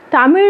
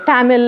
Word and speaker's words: தமிழ்: வந்து லான்னு ஆக்கிடுவாங்க வாழைப்பழம் இப்ப நிறைய பேருக்கு ழ ஒலி வந்தாலும் அங்க வந்து தமிழ் சொல்ல மாட்டாங்க தமிழ் அப்படின்றாங்க இந்த ழ நம்முடைய தனித்துவமான